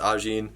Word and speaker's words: Ajin: I believe it's pronounced Ajin.